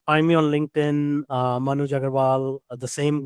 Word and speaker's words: Manuj Aggarwal: Find me on LinkedIn uh Manu Jagarval, the same name for uh my website.